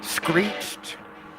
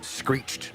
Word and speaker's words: screeched: Did you know screeched is the longest English word with one syllable? Screeched. Nice. And I think that's borderline. I think a lot of people around our neck of the woods, I don't think they can pull off that word in one syllable. Screeched. turns into two. You always get the extra syllable.